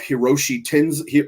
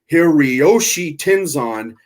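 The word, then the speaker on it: Hiroyoshi Tenzan: is the team of Hiroshi tins here excuse me I'm saying it wrong hiriyoshi tenzon and Satoshi Kojima tenkosi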